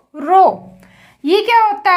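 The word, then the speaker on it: rho: prapushali की constant है रो इसे कैसे प्रोनाउंस करेंगे आर ह ओ रो यह क्या होता है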